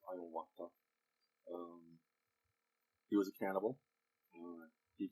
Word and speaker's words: Hiawatha: He met the individual named Iowata. A lot of people call that Hiawatha. As I understand it, the correct pronunciation is Iowata.